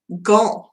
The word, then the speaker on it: Gand: It's G-A-N-D. How do you say that? Gand.